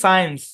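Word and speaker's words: science: দেখেন এই শব্দের উচ্চ সাইন্স আমরা বলি না সাইন্স আর্টস কমার্স বলি না এই সাইন্স তো এখানে এস সি একসাথে আছে সি এর পরে আই আছে সি টা সাইলেন্ট ঠিক আছে মাথায় রাখবেন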